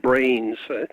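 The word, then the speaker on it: branes: multiple what are called brains need to spell that BR a in ES not like the brain in our head that that's another factor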